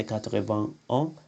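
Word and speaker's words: huit: Le T est muet quand il précède un mot commençant par une consonne ou un H aspiré. 8 semaines.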